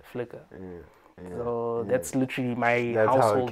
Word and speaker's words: FLCKR: And then that's when now, today present, it's spelled FLCKR. Yeah. Flickr.